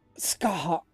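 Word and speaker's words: Scathach: Skaha.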